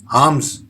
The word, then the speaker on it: alms: इसका प्रोनाउंसिएशन होता है आर्म्स। यहां पे हम देख रहे हैं कि यहां एल लिखा है लेकिन वो साइलेंट दिख रहा है, एस की जगह पे जेड साउंड आ रहा है, आर्म्स।